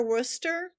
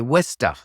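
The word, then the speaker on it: Worcester: that's that's somewhat near Worster I don't know how to say I know I say it wrong yeah it's well if you lived up there you'd say wster w yeah what a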